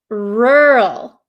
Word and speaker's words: rural: So, this word is pronounced rural. Rural. Do you see how my mouth doesn't really open or it doesn't really move around that much? Okay.